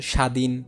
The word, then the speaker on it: স্বাধীন: যেমন দেখো এখানে আমি লিখছি স্বপ্ন, আমি যদি লিখতাম স্বাধীন, সেটা উচ্চারণের সময় বফলার কি হতো না, উচ্চারণ হতো না।